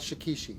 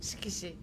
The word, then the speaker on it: shikishi: Apparently, Shikishi board is not how it's said properly. I was corrected. Bull, could you tell me again? This word is not Shikishi. It is Shikishi.